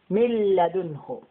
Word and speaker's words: مِنْ لَدُنْهُ: This noon today is silent because of the lamb with the shadda. وَيُؤْتِي مِنْ لَدُنْهُ. See, مِلْ. We will not say مِنْ. It will be مِنْ لَدُنْهُ. مِلَّدُنْهُ.